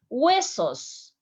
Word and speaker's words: huesos: Remember, the H doesn't sound in Spanish. So listen my pronunciation in the next words. You are going to notice that I almost make no sound when I pronounce the letters.